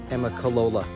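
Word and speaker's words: Amicalola: Trust me, I had to work for a day to get that pronounced correctly, Amicolola.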